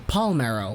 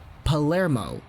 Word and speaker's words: Palermo: college going through life it's very common for people to say my name as Palmeiro which is incorrect if you literally just take some time to look at it it's not Palmeiro it's Palermo and Scott Oake gets